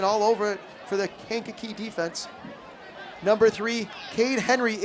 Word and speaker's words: Kankakee: I will get it it's Kankakee and I am sorry can't keep fans if I have called your team name wrong a couple times tonight